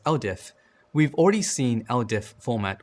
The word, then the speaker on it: LDIF: To begin using command line tools, you need to use something known as LDIF files, pronounced LDIF.